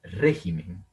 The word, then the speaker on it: régimen: Por ejemplo, régimen. Régimen. Vean que el acento está en la antepenúltima sílaba, como le estoy marcando acá.